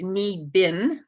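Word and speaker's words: Niibing: c a so again it's pronounced knee bin but it's pre it's spelled n-i-i-b-i-n-g and then uh yeah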